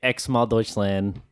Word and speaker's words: Xmal Deutschland: But we're going to say Xmal Deutschland. The band name is spelled Xmal, or sometimes it's spelled X-MAL Deutschland, which is Germany.